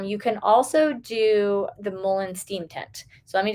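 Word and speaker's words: mullein: be helpful um you can also do the Mullen steam tint so let me just tell you quickly what it is two tablespoons of Mullen Leaf Mullen is spelled m-u-l-l-e-i-n Molen Leaf is an herb there's various ways you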